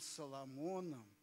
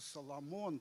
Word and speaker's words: Соломон: по роли, он был Соломоном по жизни. Давайте ему поаплодируем. Ефим Исаакович Байковский. Это он нас научил правильному ударению. Оказывается, Соломон, царь Соломон, должен звучать как царь Соломон.